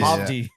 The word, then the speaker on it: Hovdy: It's 2 V's. It's Howdy. Oh, Howdy. It's spelled with 2 V's. Hovdy. Yeah, Hovdy.